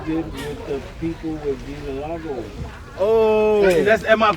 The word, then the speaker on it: vitiligo: The 5-minute documentary you did with the people with Vitiligo. Oh, am I pronouncing it right? Vitiligo.